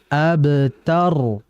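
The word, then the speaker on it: الأبتر: Kemudian berikutnya terakhir hati-hati alabtar bukan o bukan innaaka hual abtar bukan tapi a abtar jadi a-nya tipis a di sini kan hamzah ya saya katakan bahwa kalau ada dalam Al-Qur'an itu terucap a i u itu namanya hamzah ya al a ab bukan o bukan ab bukan ab yang betul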